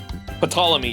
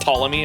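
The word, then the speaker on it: Ptolemy: Patamy. Yeah, to Is it just Tommy? I think the P is silent, right?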